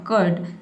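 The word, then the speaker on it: curd: आपका प्रोनाउंसिएशन इस तरह से होगा कर्ड, लेकिन इसमें जो र का साउंड है इसको आपको नहीं बोलना, आपको बोलना है कर्ड, कर्ड, ठीक है। र को साइलेंट रखना है।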